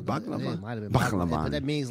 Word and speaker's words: Bhagavan: Bhagavan.